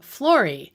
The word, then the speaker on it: Flori: choosing the studio name florie from the latin floris which means flower and of course it rhymes with her name you'll want to check